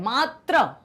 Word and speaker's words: मात्र: नहीं होना चाहिए, क्योंकि इसका जो उच्चारण भी अलग है। मात्र, आ साउंड आता है, त्र आ, ठीक है, जो साउंड आता है वो क्या है? आ। यहां पर मातृ ई, क्योंकि ये है ऋषि की मात्रा, आप देखते हैं